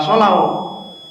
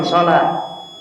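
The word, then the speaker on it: صلاة: wau kemudian tak marbutah tapi kita baca salah bukan salw tapi kita bilang salat Kenapa ditulis seperti itu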